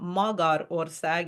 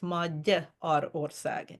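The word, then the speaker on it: Magyarország: And so it's spelled with a G-Y, but a G that is followed by a Y in Hungarian becomes a D. So it's not Magyar ország, it's Magyar ország.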